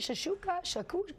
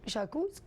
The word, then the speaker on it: shakshuka: Is that how you say it? Shakshuka? Shakus? What? You can say it however you want. I like to pronounce it shakshuka.